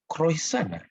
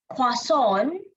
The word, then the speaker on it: croissant: Tapi sometimes bila kita baca menu ni, kita nak sebut pun rasa macam croissant. Apa benda ni? Teacher Sasha, how to pronounce this?